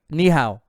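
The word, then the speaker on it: 你好: Ni hao. Like the knees that I have.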